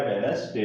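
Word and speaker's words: Wednesday: गया, आपका silent letter हो गया, तो इसका प्रोनाउंसिएशन क्या हो गया, वेडनेसडे हो गया।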